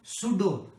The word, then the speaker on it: pseudo: पहले तो नेम से समझो, सूडो पी साइलेंट होता है, सूडो का मतलब होता